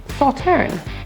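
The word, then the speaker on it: Sauternes: The S is silent in Sauterne. So it's Sauterne. Sauvignon Blanc.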